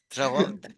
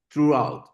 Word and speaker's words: Throughout: Throw out. Acá mi esposa me está corrigiendo. Que me Porque, corrija, dale. Mi pronunciación es horrible. ¿cómo es? Throughout.